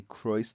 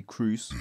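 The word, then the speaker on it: Kroos: to replace uh Modric I pronounced croiss wrong I know I say Christ they say Cruz or something like that Rice Rice yes yes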